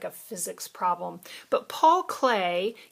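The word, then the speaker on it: Klee: physics problem but Paul clay that's how you spell that it looks like CLE but it's Clay defined a line as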